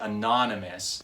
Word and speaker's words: anonymous: word anonymous for instance when i say it anonymous i'm emphasizing the syllable non right anonymous when he